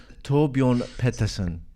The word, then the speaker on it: Torbjorn Pettersson: You have to help me with this pronunciation, okay? Torbjorn Pettersson. I just love the Scandinavian accent. It's really exciting for me. Torbjorn Pettersson.